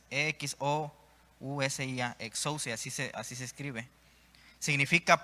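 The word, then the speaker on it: ἐξουσία: Esta palabra autoridad en el griego es exousia, con X, E-X-O-U-S-I-A, exousia, así se escribe.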